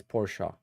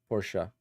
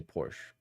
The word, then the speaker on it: Porsche: two local friends it's Porsche Porsche the E you pronounce the E you don't say Porsche don't don't ever say